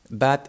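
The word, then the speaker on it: bé: we have for example the word b b means well the the adverb like well done no and here well uh b is spelt b e and the e has a closed accent on it so the accent going to the right and that's why the e doesn't sound e like open but it sounds closed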